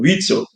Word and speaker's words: Witzel: do Rio de Janeiro, o Witzel, que o nome se pronuncia assim, quando ele entrou para